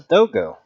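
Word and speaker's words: Dogū: That's a dogo. And it's kind of interesting because dogo is spelled Dogu.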